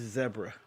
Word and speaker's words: zebra: It's zebra, not zebra. Zebra? It's zebra, like Deborah.